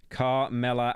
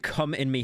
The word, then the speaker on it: Kamala: That's how you say her name, bro. It's how you say her name. Kamala Harris. Kamala Harris. Kamala Harris. Kamala Harris. Kamala Harris. I'm not saying come in me Harris. I'm not saying that.